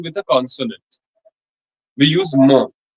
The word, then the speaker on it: mon: We use mo. The N is actually a nasal sound. Huh? It's mo, mo, mo. It can also be pronounced as mon, n.